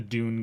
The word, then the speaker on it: Dune: if they were um Dune not Doom D du NE e uh I know with the way I pronounce things you might be hearing Doom but I I mean Dune um I don't know